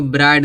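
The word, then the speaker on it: bright: फिर यहाँ देखो ब्राइट दिया, लास्ट में क्या आया है, GHT आया है। GHT है तो GH क्या होगा, साइलेंट होगा।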